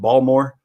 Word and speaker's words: Baltimore: You're, uh, in, how did you pronounce it? Balmore. You gota say B when you're out here in Baltimore. Not Baltimore. Baltimore. Balmore.